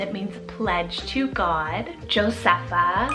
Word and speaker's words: Josepha: really fun and it means pledge to God josepha spelled j-o-s-e-p-h-a josepha doing that nickname of Josie super cute